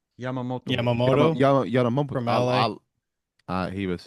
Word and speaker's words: Yamamoto: Yadamoto, is that how you say it? Yadamoto? Yamamoto.